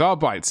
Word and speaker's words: Arbites: Yeah, it's Arbites. Exactly, Gabba. I'm glad you agree with me. That's how it's said. Bites. See? Bites.